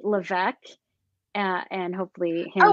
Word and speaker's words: Levesque: uh at C Levesque uh and hopefully it's okay it's French Canadian and the S is silent but Levesque works too I have